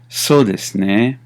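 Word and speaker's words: そうですね: So pronunciation on that is so desu ne, and it can range from a question to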